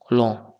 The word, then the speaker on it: long: Et la lettre G ne transmet aucun son, comme l'exemple de le long. Long. Enfin, alors, il y a la lettre G à la fin, mais elle ne se prononce pas.